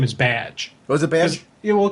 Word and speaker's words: Baz: that baz has is his name sounds like badge oh that's a good idea so right there there so we now know how to pronounce his name it's badge i i think there